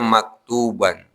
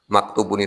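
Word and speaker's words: مكتوبا: Tapi karena ini menduduki posisi maf'ul, maka dibacanya maktuban. Maktubun itu kalau posisinya sebagai mubtada ya Pak.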